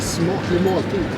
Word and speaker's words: smaklig måltid: Skål is beer, but Yeah, it's a smaklig måltid.